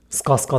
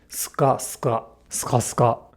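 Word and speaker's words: スカスカ: Like before, if it helps, try thinking about the pronunciation as this rather than ska ska ska ska.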